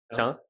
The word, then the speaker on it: Caen: à un jeune au gym, c'est quoi la vraie prononciation de la Ouais, c'est ville? Caen. C'est Caen.